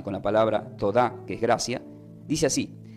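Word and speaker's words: todá: gracia se pronuncia como tod que tiene asiento en la a t o d a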